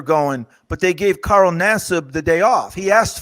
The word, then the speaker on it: Nassib: Carl Nassib.